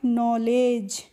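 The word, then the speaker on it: knowledge: तो डी होती है वो साइलेंट रहती है। तो इसको हम पढ़ लेंगे नॉलेज।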